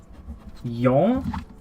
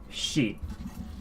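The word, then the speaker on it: 四: So with the romaji, the English, we have yon, and then we're splitting this as well, like so. We have shi. So those are the 2 ways you can pronounce 4 in Japanese.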